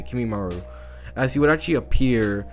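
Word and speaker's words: Kimimaro: name kimimaru oh yeah that's how you say kimimaru as he would actually appear right then and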